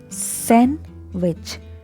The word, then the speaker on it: sandwich: In this word, letter D is silent. This is the correct answer. So you say sandwich, not sandwich.